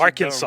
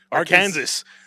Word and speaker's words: Arkansas: That's Yeah, like the S is silent unless you're Arkansas. dumb. What Arkansas.